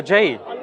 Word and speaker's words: Jai: Oh, Jai. Yeah, but it's pronounced Jai.